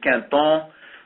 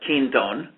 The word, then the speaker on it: Quinton: First of all, it's French, and the real French pronunciation is Quinton, but to Americans, that's probably not something you can figure out how to spell, but it is spelled Quinton.